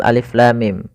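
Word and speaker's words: الم: Jangan sampai kita membacanya misalkan alama misalkan ini bacaan yang kurang atau bacaan yang salah ya. Maka apa yang perlu kita kerjakan di sini? Maka kita harus baca dengan huruf-hurufnya.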